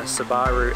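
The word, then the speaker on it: Subaru: out of space so we settled on the sabaru outback that's how they say it over here in new zealand so yeah we're heading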